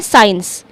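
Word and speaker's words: science: अब साइंस में जब हम साइंस रीड कर रहे हैं साइंस तो हम क्या कर रहे हैं? सी को हम बोल ही नहीं रहे। ध्यान से देखिए। साइंस तो सी यहां पर ऐसा लग रहा है ही नहीं। यानी हम सी को साइलेंट कर दे रहे हैं।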